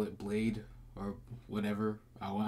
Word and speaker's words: bladee: i can call it blade or whatever i want how it's pronounced he pronounces this blade so i'll call it